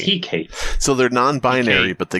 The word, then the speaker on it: Hecate: Hectate Island, everybody. Yes. Hectate? This was... Hectate? Hectate, I don't know. I don't know how to pronounce this. Abysmii, how do you pronounce it? Hecate.